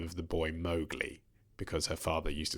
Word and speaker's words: Mowgli: Apparently, Rudyard Kipling's daughter was furious that in the Disney version they pronounced the name of the boy Mowgli, because her father used to say Mowgli.